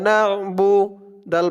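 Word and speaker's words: نعبد: বা পেশ বু, ইয়াকা নাবু, দাল পেশ দু, ইয়াকা নাবুদু, ইয়াকা নাবুদু। না, আইনের উচ্চারণটা কিন্তু শক্ত করতে হবে।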